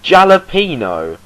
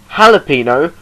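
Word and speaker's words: jalapeño: It's spelt with a J, but it's pronounced a H. Jalapeno, not jalapeno.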